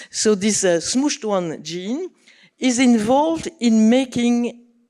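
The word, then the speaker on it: SMCHD1: probably heard this name this gene with a horrible name which I will pronounce smooshed one. So this smooshed one gene is involved in making in putting metal group on DNA and in compacting chromatin.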